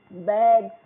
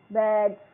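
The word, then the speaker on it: bags: इसमें भी देखिए स्पेलिंग में एस है लेकिन बोलने में क्या जी की साउंड आ रही है। बैग्स बैग्स तो यहां पे भी जी की आ रही है।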